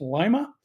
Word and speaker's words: Lima: of Calvary Chapel and I've told it's pronounced Lima uh will be picking